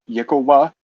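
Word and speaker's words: yklwa: Um, there's a weapon called the uh uh Yet, it's pronounced uh Yakova.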